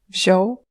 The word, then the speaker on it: wziął: Devant un L ou L barré, et en fin de mot pour E, la nasalisation disparaît complètement et ces lettres se prononcent simplement comme O ou E. Wziął, Il a pris, wzięli.